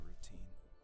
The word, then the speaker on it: route: we would finish our route underneath a twilight sky. Your route, that's how you pronounce that word. I was lonely during those summer days, but there was comfort in the routine.